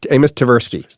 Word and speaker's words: Amos Tversky: We're talking a bit about friends, and you mentioned a name earlier, and I might get the pronunciation wrong here, but Amos Tversky. Amos Tversky.